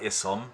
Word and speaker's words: Isom: It looks like Isom, but it's Isom, I-S-O-M.